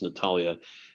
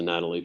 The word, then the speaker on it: Natalia: have mispronounced your name i think it's natalia as opposed to natalie forgive me for that